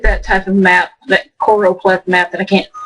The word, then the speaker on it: choropleth: There's the choropleth map. I always mispronounce that and call it choro. It's called choropleth, not chloropleth. I always want to say chloro, but I guess I'm thinking Clorox or whatever.